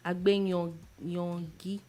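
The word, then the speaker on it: Agbeyangi: Agbe Yangi. you sure that's the pronunciation? Agbenyongi. Yeah. Exactly.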